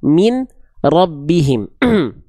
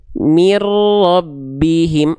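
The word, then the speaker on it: مِن رَّبِّهِم: Bacaan yang salah adalah min rabbihim. Ya, min rabbihim salah. Tapi bunyiannya di sini ya, bunyiannya di sini dileburkan ke huruf ro. Makanya lihat di fitur Qurannya, lihat latinnya dibacanya gimana. Mirbihim.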